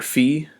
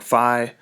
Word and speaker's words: phi: But the phase shift, we use the Greek letter phi or phi.